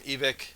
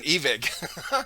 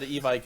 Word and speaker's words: Evike: products, whatever, he says, you can all get all this from Evic. I was like, oh shit, we have been saying it wrong. So I tried to switch, but it sounds so weird. Saying Evic. Yeah, that's because I always said Evike as well.